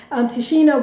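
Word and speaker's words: Tichina: Tashina was there.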